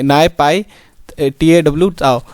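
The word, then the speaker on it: Naypyidaw: Myanmar की जो capital है वो है NAY नाय, PYI पाई और TWA ताओ। काफ़ी अजीब नाम है लेकिन जो है ये नाय पाई TAW ताओ।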